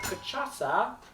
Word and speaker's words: Cachaça: Our Cachaça. cachaça. And the last C has the little extra C underneath it, which means you pronounce it like an S.